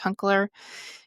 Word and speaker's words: Hunkler: I think that's how you say his last name. I tried to phonetically look it up. I'm pretty sure it's Hunkler.